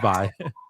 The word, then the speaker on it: Vi: Vi. Yeah, I'm I think it's Vi. I I I don't think it's six. It's Vi, yeah.